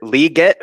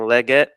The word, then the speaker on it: Legette: production um looks like Xavier liette who I found out that's the official pronunciation I've been saying Legette um but Xavier liette